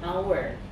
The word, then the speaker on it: hour: Ini bacanya bukan hour tapi hour, jadi yang terbaca hour. Bunyinya tuh bunyi huruf vokal hour.